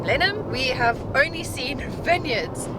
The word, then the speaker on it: Blenheim: So we've been saying Blenheim, but then on the radio we heard Blenheim.